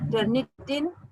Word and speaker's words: Turnitin: definition etc are allowed so that is the tyranitan i hope i'm pronouncing it correctly yeah yeah turnitin is a tool to check plagiarism thank you